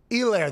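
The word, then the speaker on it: Helaire: elaire by the way elaire the h is silent ground and pound pound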